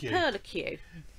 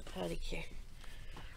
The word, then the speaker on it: Perlicue: We think it's pronounced Perlicue. And you want to know what that is, don't you? On that. It's a good idea. Yeah, it would, wouldn't it? It's a pearly Q. It's a Perlicue.